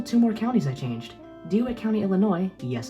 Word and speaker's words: DeWitt: DeWitt County, Illinois, yes, it's pronounced like that, has a space on the census but not its official government website.